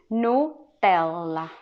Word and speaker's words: Nutella: you know that thing nutella you pronounce it like a british man now nutella it's english in italian originally yeah we pronounce it no tella also in thailand they